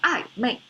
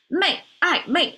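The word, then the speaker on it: 暧昧: ambiguous, because Chinese have this set phrase called I, mei. Same pronunciation as I, add a sun next to it to make it unsunly. Because we have this way. No, sorry. Mei, I, mei. The mei symbol means not yet.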